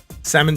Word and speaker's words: salmon: It is Silent L, salmon shorts.